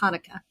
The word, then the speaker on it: Hanukkah: horn here so bachelor so um i'm a hanukkah celebrator it's actually pronounced hanukkah but i didn't want to put you all